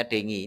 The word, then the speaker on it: dengue: Tulisannya dengue, bacanya dengi.